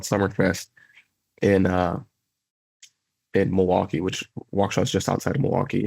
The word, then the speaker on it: Waukesha: So it's Waukesha, Wisconsin.